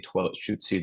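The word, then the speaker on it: Lushootseed: in my right now as I'm pronouncing toilet shoy that's kind of a um a more Americanized way of uh pronouncing it but it's more like like so it's like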